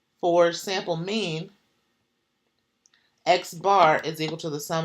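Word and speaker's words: x̄: mu but it's like mu mu so it's pronounced mu and then the second one here for sample mean X bar so it's X bar so it's like X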